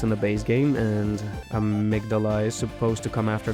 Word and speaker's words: Amygdala: Finally, I pitch stopped at Amygdala, or how Patches pronounces it, Amygdala. Oh, Amygdala, Now I'm hesitant to say every boss's name, just in case German turns out to be German.